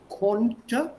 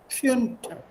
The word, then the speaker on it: konnte: Können, konnte, preteritum, put an umlaut. E is already there. Könnte. Anjali, do you remember? I think yesterday or the day before I corrected your pronunciation. Konnte, not könnte.